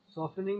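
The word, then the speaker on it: softening: सॉफ्टनिंग hard water, सॉफ्टनिंग नहीं बोला यहाँ पर भी साइलेंट है ना, सॉफ्टनिंग हार्ड वाटर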